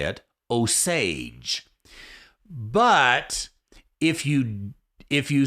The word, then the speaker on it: Osage: was now I know how to say it osage but if you if you say it Asajj then you take the raw sausage exit and